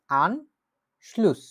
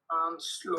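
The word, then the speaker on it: Anschluss: যেকোনো কিছুর কানেকশনই হচ্ছে আনশ্লুস হতে পারে শব্দটার উচ্চারণ কি আনশ্লুস আনশ্লুস আনশ্লুস আউটো আউটো মানে হচ্ছে গাড়ি ঠিক আছে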